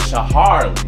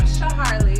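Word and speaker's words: Shaharlee: So we got Shaharli. Very good. Good job. You know, T-Man, you know how I do it, so. Hey, everybody, I'm Shaharli.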